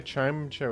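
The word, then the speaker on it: Chimecho: They got Mega Chime Show in that one, which is how you pronounce it. I think they put voice acting in the game and they're all saying Chime Cho in the in the game. It's been canonized.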